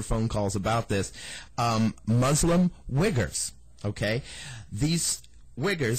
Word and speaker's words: Uyghurs: I believe they call them, and I'm pretty sure this is the proper pronunciation, but I don't want to hear any letters or phone calls about this. Muslim Uyghurs, okay?